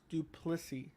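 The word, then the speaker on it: du Plessis: It's pronounced Duplessis.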